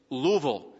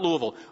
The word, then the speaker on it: Louisville: let me tell you it's louisville two syllables not louisville louisville and i met a